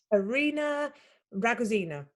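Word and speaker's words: Arina Rogozina: arena ragazina have i pronounced it right yes hi sarah hi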